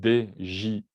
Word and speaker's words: DJI: Le drone de couleur blanche, c'est le Phantom 4 Pro de la marque DJI, ou DJI, si on le prononce à la française.